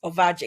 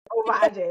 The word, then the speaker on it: Ovadje: I mean, it's pretty much the way it's spelled, Ovadje. Okay, Ovadje, right?